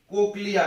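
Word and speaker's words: cochlea: उसके बाद इनर में ओवल विंडो, कोक्लिया, इसको क्या पढ़ते हैं बच्चों, कोक्लिया, ऐसे लिख दिया जाओ, कोक्लिया।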